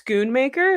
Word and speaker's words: Schoonmaker: What, it's Schoonmaker?